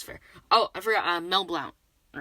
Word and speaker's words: Mel Blount: okay yeah that's fair oh i forgot uh mel blount all right that's that's how you pronounce the name yeah that's right the man